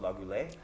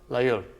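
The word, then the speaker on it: Laguiole: I'm walking through, and I always get this wrong, but I think it's pronounced Lagule? Layul. Lagule. Layul, yeah.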